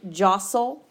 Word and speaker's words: jostle: final stable syllable tle jostle you don't actually hear that T sound the T sound is silent the oh is short